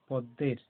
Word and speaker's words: পদ্মের: তাহলে এখানে নিশ্চয়ই ম উচ্চারণ হয়নি, দটাকে জোর দিয়ে বলা হচ্ছে, দয় ম থাকার জন্য দটাকে জোর দিয়ে বলা হয় পদ্মের।